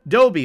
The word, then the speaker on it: Dobie: your name thomas dobie more emphasis on the doe dobby like the dog okay that pirate outfit that he had going on that was 10 out of 10.